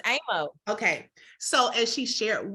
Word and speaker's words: Aymo: It's Aymo.